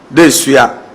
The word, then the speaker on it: Dedesua: 100 acre land lying, being, and situated at Dedeso in Kumasi to meet How's it pronounced? Dedeso The Dedeso Yes, I Yeah, I was pronouncing the Asante word like an achievement.